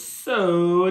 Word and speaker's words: Tso: how to say this is the TS so is it so so so like the t is silent I think so what are you